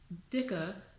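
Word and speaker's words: dicker: a big thing there it's dikka which means like fat or it's like it's how you would describe someone who's fat that's what it means even though it's spelled d-i-c-k-e-r you can also see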